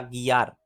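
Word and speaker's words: guiar: खियार, गुयार या गियार। तो ये बनेगा गियार। क्यों? क्योंकि जी और आई के दरमियान यू है जो कि साइलेंट है, तो इस वजह से ये बनेगा गियार। गेर्रा, गेर्रा।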